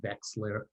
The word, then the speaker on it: Wexler: myself and i say my name is westler and i pronounce it vexler and there's this murmur